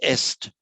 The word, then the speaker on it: est: And that in Latin, that's est. Same spelling in French, but pronounced e.